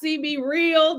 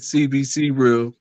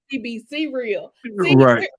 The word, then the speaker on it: CBC Real: Productions you might have CB real did I say it right Marcus nope I said it wrong you did say it wrong so it is CBC real CB see real we're all coming together